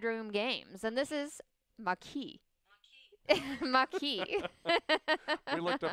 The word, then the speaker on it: Maquis: And this is Maquis. Maquis. We looked up how to pronounce this one ahead of time.